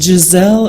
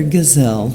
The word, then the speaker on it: Giselle: Is it Giselle or Gazelle? It's gazelle. It's pronounced just like the antelope. Good. So the S is a Z.